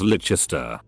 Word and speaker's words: Leicester Square: sing so long to Leicester Square is licha stir I told her how